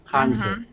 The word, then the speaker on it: counter: Counter. Counter. Counter. So this one, it does actually sound like a T.